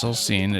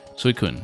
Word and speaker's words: Suicune: Or no, that's not Suicune, right? Suicune, or... I totally misread that name. That's why I said I don't know my Pokedex. Suicune, yeah, Suicune. That makes more sense, maybe.